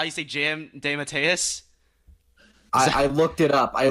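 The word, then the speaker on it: DeMatteis: others it is that how you see Jim de Mateus I looked it up I looked up a video on YouTube how do you pronounce this name that someone said de Matteis that's like the third different way I've heard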